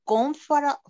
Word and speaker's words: comfortable: Comfortable es como comfortable. Comfortable. Como comfort. Y la última palabrita, B-O-L. Comfortable. Sin mencionar la T. No se menciona la T.